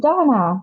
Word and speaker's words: Dana: you so much and donna doughnut whose right do i pronounce your phenomenon correctly that's the european pronunciation the american pronunciation is dana theas all right i